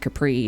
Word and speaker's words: Capri: And Capri is, I mean, it's spelt like it sounds.